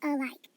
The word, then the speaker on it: alike: Because it's saying we should pronounce that like alike, not alike. Alike. It has the schwa, lazy sound of A.